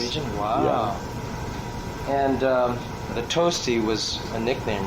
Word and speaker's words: Tosti: If you're going to spell it, you're going to call me Tosti, you spell it like the Italian composer, Tosti. Oh, and there was one, huh?